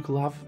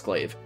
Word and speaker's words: glaive: this game even though i definitely know that's glaive um it's because the